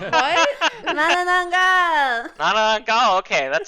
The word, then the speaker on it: Manananggal: Manananggal.